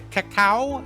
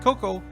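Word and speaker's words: crème de cacao: of white crem to cacao I think that I'm pronouncing that right it's not cocoa the one qu fluid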